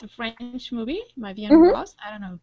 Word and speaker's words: Ma vie en rose: Ma vie en rose.